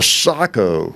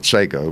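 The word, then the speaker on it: Sako: Yeah, I kept the Sacco. Is how you pronounce it, but everybody calls it Seiko, but I think it's Sacco, that Bavarian.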